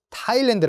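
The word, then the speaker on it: Thailand: 읽어야 될 것 같죠 th 가 있기 때문에 그렇지 않습니다 타일랜드 라고 읽어 주셔야 되요 타일랜드 타일랜드 라고 이거 주셔야 됩니다 사이렌 드 아닙니다 그리고 그 다음에는 러시아의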